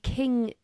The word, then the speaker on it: Qing: the Qing dynasty. So, the Qing dynasty has Sounds like a Chinese restaurant, doesn't it? probably is, and King is spelt with a Q.